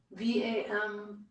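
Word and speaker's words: वं: writing seed syllable of V am but it's a soft be more like a w if you'd like to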